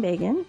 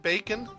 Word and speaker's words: Begin: In 1978, the Nobel Peace Prize was awarded to Israel's Menachem Begin and Egypt's Anwar Sadat. Can an Israeli man be named Bacon? Begin. Begin. Oh. Did I say it like Bacon?